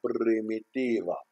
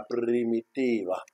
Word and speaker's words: Primitiva: Hein, prépare-toi, prononce comme moi. Allez, on va faire un peu les espagnols. C'est la Primitiva. La Primitiva.